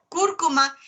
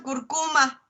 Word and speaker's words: cúrcuma: Sin embargo, no investigaron los nombres científicos de la espinaca, del chile seco, cúrcuma. Lo pronuncian curcuma. Está ahí un acentote gigante.